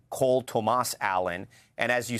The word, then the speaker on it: Cole Tomas Allen: He pronounces his name Cole Tomas Allen.